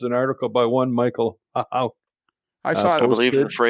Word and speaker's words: Hauk: Well, I Googled them, and there's on Classic Trains an article by one Michael Hauk. I saw it. I believe the posted. phrase is "splain, please." Is it Hauk? It is Hauk, right?